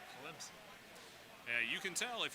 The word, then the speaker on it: Clemson: Atlanta Atlanta Atlanta and the nearby town of Clemson South Carolina with an invisible P Clemson and you can tell